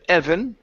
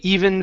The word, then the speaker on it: even: uh let's go to the word even instead of Evan they even fell they even fell okay